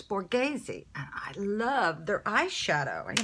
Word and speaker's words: Borghese: yours so I finally found out how to pronounce this one of my subscribers told me it's Borghese I love their eyeshadow you know who would